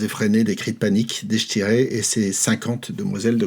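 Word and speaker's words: Deichtine: Et le roi Conor avait une sœur qui s'appelait Deshtiré, je prononce à la française, une femme absolument somptueuse,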